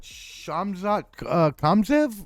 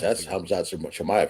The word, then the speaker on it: Hamzat Chimaev: want to ruin this, but Shamzat Kamzev, or I think I got that wrong. That's Hamzat Chimaev you're thinking of. I completely it's a hard name to pronounce, but no, I used to like Wonderboy.